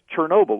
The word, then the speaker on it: Chernobyl: I mean, because wormwood translates into Ukrainian as Chernobyl, or that's the Russian pronunciation.